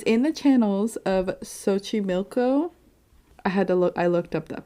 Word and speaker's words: Xochimilco: And it's in the channels of Xochimilco. I looked up that pronunciation.